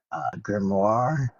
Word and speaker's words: grimoire: Grimoire.